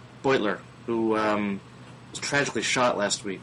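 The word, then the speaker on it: Beutler: I understand you visited Brian Butler in the house the pronounced boiler boiler who tragically shot last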